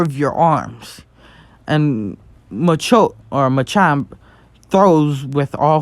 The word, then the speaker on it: Machamp: Machamp, yes, it's Machamp. And he just says, Machamp, use Mach Punch. And he says, use with all 4 of your arms. And Machamp throws with all 4 of his arms, creating